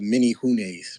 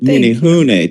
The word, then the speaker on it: Menehune: wanted to say uh because y'all was pronouncing a word wrong they called the mini hoes mini hoes mini ho mini hun thank you well um